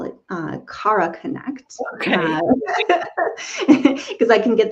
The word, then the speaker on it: Kara Connect: I've been calling it Cara Connect, but it's Cara Connect.